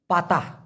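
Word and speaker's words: patah: ভেঙ্গে যাওয়া মানে কি পাতা ভেঙে যাওয়া পি এ টি এ হেইচ উচ্চারণটা হবে পা তা লাস্টে একটা হ গাছের পাতা লাস্টে হ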